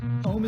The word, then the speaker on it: Om: Om is composed of 3 syllables.